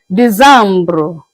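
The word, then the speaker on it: décembre: December is being pronounced as Dambro.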